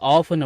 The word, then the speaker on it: often: சரி இப்ப கவனிங்க ஓ எடி இத வந்து ஆபன் அப்படின்னு கூட உச்சரிச்சுக்கலாம் இல்ல ஆப்டன் அப்படின்னு கூட உச்சரிச்சுக்கலாம். இதுக்கு என்ன அர்த்தம் அப்படின்னு கேட்டீங்கன்னா அடிக்கடி அப்படின்னு அர்த்தம்.